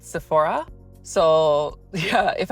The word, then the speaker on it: Sephora: So yeah, if I say Sephora, people are like, what? So I always say Sephora, but I know it's Sephora. I don't know, do people from other countries also pronounce it differently? Like the Spanish, how do you say Sephora? Do you say Sephora or Sephora?